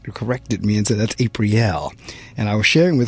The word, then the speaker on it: Aprille: and I had been reading her name is April and she very quickly couldn't be corrected me into that's a pre l and I was sharing with her I appreciate